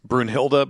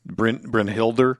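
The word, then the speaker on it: Brynhildr: incorrectly, which is uh it's Brunhilda, but it's brinhilder, right? The way that it's spelled, it's from GF Brinhilder or something.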